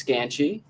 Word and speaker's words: Skanchy: tell us your last name and how to pronounce that i've heard it three different ways oh yeah so my last name is scanchi scam thank you so much um perfect so